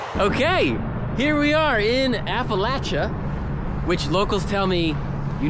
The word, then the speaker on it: Appalachia: Okay, here we are in Appalachia, which locals tell me you need to pronounce it Appalachia, you can't say Appalachia.